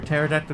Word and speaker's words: pterodactyl: Why can't you hear a pterodactyl go to the bathroom? P is silent.